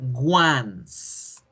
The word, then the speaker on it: once: fijémonos la palabra 11 esa palabra 11 que ven ustedes allí se pronuncia ones y significa una vez